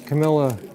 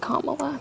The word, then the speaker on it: Kamala: it's hard talking politics I watch all of Camila um interviews her name is pronounced Kamala by the way K La reallya I didn't